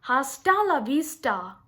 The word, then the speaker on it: hasta la vista: that sound that's wrong over here we are using the ta sound hasta la vista okay so remember this